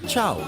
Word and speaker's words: ciao: Oh, and it's not Ciao, it's pronounced Chow.